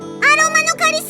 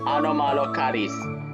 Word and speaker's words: Anomalocaris: アロマのカリス。 It's Anomalocaris. No, never mind. Let's leave your pronunciation issues aside for the moment.